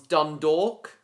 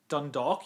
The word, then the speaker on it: Dundalk: And that one's Dondor. Dundalk. Yes. Where else is there? Siggo. I know how to pronounce it.